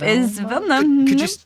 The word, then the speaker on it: Velma: How do you spell that? It was V-E-L-N-A? Yep, That's it. Got it in one. That's me. Velna? Is it Velna? Velma. Yep, is Velma.